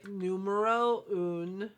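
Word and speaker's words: numéro un: So I picked up the numero un, is how I've been told it is pronounced, Chanel foundation.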